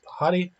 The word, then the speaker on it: Pahadi: Pahadi is pronounced Pahadi.